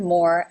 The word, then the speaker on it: more: pronunciation as the word more as in more and less more it has the Oh as in no diphthong more MORE number 10